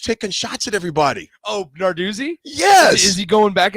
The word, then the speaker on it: Narduzzi: Well, I guess Pat, how do you pronounce his last name? I always screw it up. Narduzzi.